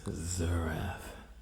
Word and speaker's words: Xerath: Okay, the first band is Zerath. You can't really see the album art, but it's spelled Xerath.